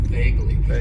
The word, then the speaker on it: vaguely: use and that is vaguely it has two syllables and the stress is on that first syllable vaguely and vaguely means that